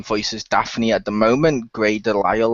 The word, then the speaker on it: Grey DeLisle: favourite voice actress of all time is the one who voices Daphne at the moment, Grey Delisle, or however you pronounce her last name. That you got it correctly.